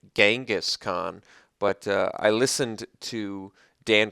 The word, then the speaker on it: Genghis Khan: And yes, I did say Genghis Khan. My whole life I always pronounced it Genghis Khan, but I listened to Dan Carlin's Hardcore History.